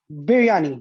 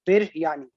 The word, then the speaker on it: biryani: I pronounce it right Biryani b i r y n i birani bani Now isn't there